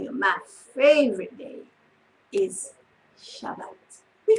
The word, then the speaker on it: Shabbat: Shabbat, and some people call it the Sabbath, but when I studied in Israel, I was told that this is how they pronounce it.